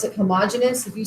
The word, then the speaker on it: homogeneous: taught i was pronounced i was taught to pronounce it homogeneous if you say homogeneous i don't care it's it's okay it's not